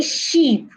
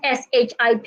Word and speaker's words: ship: Don't say sheep. Do not pronounce SHIP as sheep. Do not say build or building. No, it's ship. The letter I in that word sounds A, ship.